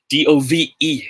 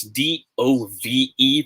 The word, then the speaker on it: dove: good job okay so mr smuggly side is pronounced as dove okay and the wing side exactly is pronounced as dove the past tense of dive right so the bird in